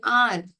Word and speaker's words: hour: It takes me an hour. H is silent.